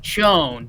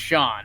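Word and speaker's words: Chone: and he's like yeah I know it looks like Joan but it's pronounced Sean and it's like no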